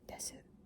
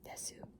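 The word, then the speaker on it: です: Like if you know this word desu, it isn't pronounced desu, it's pronounced des.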